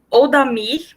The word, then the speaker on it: Oldamir: Agora eu chamo o Oldamir, me corrija se estiver errada, tá, na pronúncia. Tá certo.